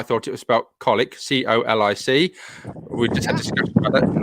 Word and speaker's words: Colwick: it was about colic c-o-l-i-c we just had to discuss it's cold wick um but it's actually pronounced colic and uh and neil